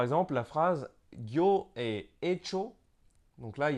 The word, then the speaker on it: hecho: Soit la lettre H elle est muette, donc et ensuite donc il y a CH, donc ça fait cho, et hecho.